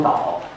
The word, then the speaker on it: 道: 这个道读成导，用政治